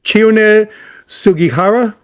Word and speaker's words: Chiune Sugihara: Okay, so I want to make sure I'm pronouncing this right. So his name is Chiune Sugihara?